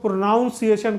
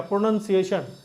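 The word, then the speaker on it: pronunciation: जरूरी होता है प्रोनंसिएशन इसको बहुत लोग प्रोनाउंस एशन कहते हैं नहीं एन यू एन होता है प्रोनंसिएशन तो कभी-कभी कोई लेटर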